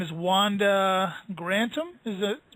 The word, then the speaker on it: Grantham: is uh her spe her name is Wanda grantom is it pronounced correct that's right that's Co you not